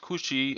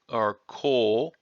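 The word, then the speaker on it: 口: This is pronounced kuchi or ko.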